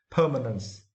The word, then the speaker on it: permanence: It is now, and for this word, you need to stress the first syllable permanence.